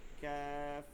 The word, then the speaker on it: كاف: হুম, আর এরপরে হচ্ছে এই যে কফ কফটা কি হবে ভারী হবে ক অ কফ আর قاف ক্যাফটা হালকা হবে ক্যাফ ক্যাফ كاف كاف ক্যাফ।